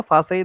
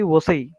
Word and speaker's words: Vasai: वो न इन वसई, तो वसई है तो VASAI वही लिखने का, तो फासई एक्चुअली फासई हो जाएगा ना, फिर वी इज फाउ, तो उसका प्रोनाउंसिएशन फासई हो जाएगा इन जर्मन में, बट इट्स not like that, even though they will spell like that, no फासई, then you have to correct them, not फासई वसई, वसई, So you have